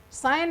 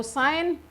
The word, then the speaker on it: sine: over the hypotenuse okay so sign not seen some people pronounce it as sin it's not seen it's sign it's just denoted with